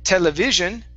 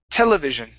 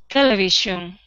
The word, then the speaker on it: television: last one is television the stress is at the very beginning instead of television it's television television great great all right